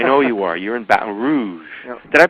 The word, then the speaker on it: Baton Rouge: all that I know you are you're in Baton Rouge did I pronounce that right yeah Baton Rouge Baton Rouge that's how they say it Baton Rouge Baton